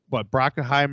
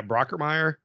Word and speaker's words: Brockermeyer: You got what Brockenheimer or whatever you say his name from Alabama. Yeah, Brockermeyer.